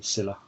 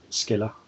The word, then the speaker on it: Scylla: I assume we're pronouncing it correctly, Scylla. Um, so some of my colleagues say Skilla. Um, it's I have absolutely no idea, so I call it Scylla.